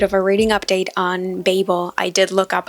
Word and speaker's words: Babel: a little bit of a reading update on Babel I did look up how to say it